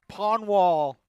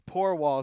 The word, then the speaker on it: Porwall: Miles Pawnwall and Miles Porwall, excuse me, I mispronounced that.